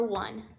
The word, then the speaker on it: one: But the number one is spelled like that. Oh, it sounds like an accent. One sounds like it needs an N at the back. It does, right? You don't hear the E.